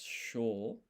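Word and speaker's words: しょ: So this shi and yo is not pronounced shio, it's sho.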